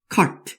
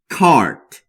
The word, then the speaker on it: cart: 이거는 발음을 길게 내란 표시여서 cart 이렇게 짧게 하시는 게 아니라 cart 라고 길게 발음하시면 됩니다.